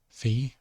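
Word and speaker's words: φῖ: Phi, making an F or a PH sound. Phi or Phi.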